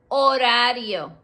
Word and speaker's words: horario: Horario. Remember, it has a silent H.